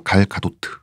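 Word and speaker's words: Gal Gadot: 원래 발음은 이쪽이 더 가깝대요. 갈 가도트.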